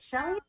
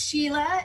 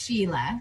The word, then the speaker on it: Shelia: Is it Shelly? It's Sheila. It's actually spelled wrong on the screen. It's spelled Shelia, but pronounced Sheila.